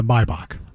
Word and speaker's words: Maybach: Uh Maybach uh is it Maybback or Maybach by the way? I pronounce it uh Maybach.